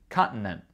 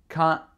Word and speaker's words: continent: This one we are skipping two T's. Continent. I probably stop the second T like an alveolar stop because there's the N sound right before, so I probably just stop it with my tongue. Continent. Yeah, I stop it with my tongue, the second one. So the first one is a glottal stop. The second one is a tongue stop.